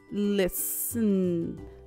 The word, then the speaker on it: listen: L-S, the T is silent. Listen, listen, listen.